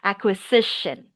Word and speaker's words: acquisition: Oh yeah, that word acquisition. Acquisition. Yeah. Good. Good. Still the s and then the shition.